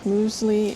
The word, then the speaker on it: mysli: Muesli in Finnish is muesli, which is spelled a little bit different.